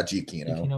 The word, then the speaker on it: Giacchino: Yeah, Giacchino.